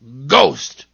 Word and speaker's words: ghost: And I know of one word where H is silent in the middle. Ghost. G-H-O-S-T, ghost.